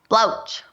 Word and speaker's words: Blauks: and how do you say it again blou blouch blouch that's that's really cool that's pretty funny